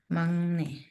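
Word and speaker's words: 막내: mangne ah Oke magne tulisannya itu magne tapi tapi dia dibacanya Mang ni n nih kemudian contoh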